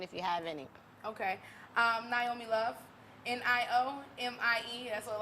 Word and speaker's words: Niomie: home in Africa, and the way it's pronounced is Niomie. Niomie. You know, so it's Okay. like, yeah, I might not even be saying it right because I have my little southern accent right now. But yes, it's not Niomie. It's the I is pronounced with the ni.